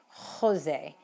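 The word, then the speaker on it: José: especially during the pandemic jose in spain is pronounced with a very very almost in the back of your throat sound so you might hear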